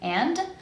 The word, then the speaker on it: and: then the word and, I can pronounce it with a D, and, or without it, I can just drop it, and.